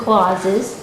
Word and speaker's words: Klase: which begins with a K which is always mispronounce we are actually the clauses we didn't really have we didn't really want